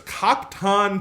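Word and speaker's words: Khap'Taan: ton k-h-a-p apostrophe t-a-a-n-t-e-e-o-w-e-d so it's cock-ton t-o-d yeah it's it's like captain toad if it was an alien in star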